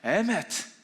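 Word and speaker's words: אמת: 네, 에메트. 네, 약간 독일어랑 발음이 비슷해요.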